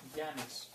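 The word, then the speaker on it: Yannis: it's it's spelled slightly funny because I'm Greek so the alphabet doesn't really translate but uh it's h it's pronounced like a y a n i s okay welcome welcome okay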